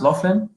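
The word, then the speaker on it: Loughlin: like you know what lori laughlin is that's pronounced laughlin yeah yeah lauren often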